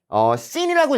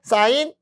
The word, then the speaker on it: 사인: 그래서 씬이라고 읽으시면 안 됩니다. 원래 여기에 이가 있어요. 이렇게 이가 있어서 사인이라고 읽는 건데 우리가 이는 생략을 해줘서 사인이다 라고 부릅니다. 그래서 여러분들 씬이라고 읽는 분들이 있어. 아닙니다. 사인이에요. 사인.